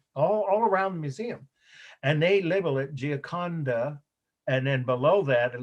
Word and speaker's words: Gioconda: Gioconda, right? Ginconda. Yeah, I'll spell it again. G-I-A, right? G-I-A, and then like the word condo, but with an A, C-O-N-D-A.